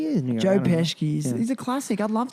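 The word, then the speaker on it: Pesci: Green School calls me Joe pesy they think I'm Joe I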